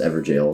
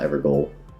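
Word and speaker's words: Evergaol: I think it's pronounced Everjail, not Evergoal.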